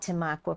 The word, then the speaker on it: Tamaqua: Mary Jo is from I hope I pronounce it right, Tamaqua. Tamaqua, Pennsylvania.